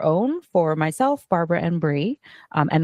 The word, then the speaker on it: Brie: Um, as Amber said, my name's Bri or Briana, but most people know me as Bri, spelled like the cheese.